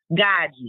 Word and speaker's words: Gaji: Spell it. Gaji. Gaji.